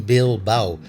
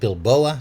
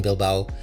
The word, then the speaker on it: Bilbao: Today we are in Bil Bao. Um I keep calling it Bilboa, so do forgive me if I mispronounce it a bit later on in the video.